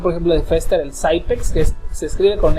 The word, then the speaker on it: Xypex: Un material puede ser, por ejemplo, de Fester, el Cypex, que se escribe con X, XYPEX, Cypex, y ese es muy bueno cuando tienes humedad.